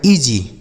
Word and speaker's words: easy: ठीक है बच्चों, आगे लिखा है EASY, इसे पढ़ा जाता है EA से हो गया दोस्तों ई, और SY से पढ़ा जाएगा जी, इसे पढ़ा जाएगा ईजी।